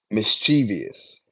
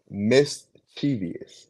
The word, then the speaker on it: mischievous: h ah wait damn you say chus right mischievous mischievous mischievous m i this how this how listen